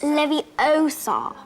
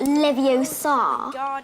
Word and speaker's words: Leviosa: someone's eye out besides you're saying it wrong it's Levi Oar not Levi Oar you do it then